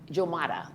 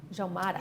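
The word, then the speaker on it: Umoja: It's pronounced Jomada in Swahili. Jomada.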